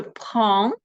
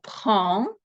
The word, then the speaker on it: prends: Дієслова третьої групи, як дієслова prendre, з займенниками «je» та «tu» будуть найчастіше мати закінчення «s», яке вимовлятися не буде. І будемо читати наступним чином. Je prends, tu prends. З займенником il та elle форма дієслова prendre залишається без змін, тобто ось такою.